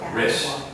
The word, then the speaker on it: wrist: watch band on your wrist. Rich. Wrist. List. Rich. List. Wrist. List. Not rich. List. Not my rich. My wrist. Wrist. Wrist. Wrist. It's almost like R-I-S-T. Wrist. List. The W is silent.